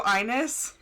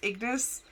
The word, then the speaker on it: Ignis: I mean, audio is audio Inus, even though it's Ignis.